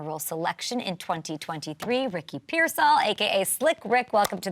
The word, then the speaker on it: Pearsall: Everybody kind of butchers it, but it's Pearsall. That's how you pronounce it. Pearsall, so I had it right.